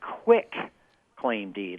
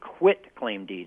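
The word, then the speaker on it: quitclaim deed: which people mispronounce as quick claim deed like it's somehow quick or easy it's not a quick claim deed it's a quit claim deed it says I quit owning whatever I may own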